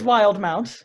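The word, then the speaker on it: Wildemount: right um you mean yeah it's it's wild mount it's pronounced oh no it is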